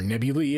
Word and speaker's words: nebulae: So if you want to sit here and talk about nebulas, or nebulae as they would be pronounced in plural, we can talk about nebulae.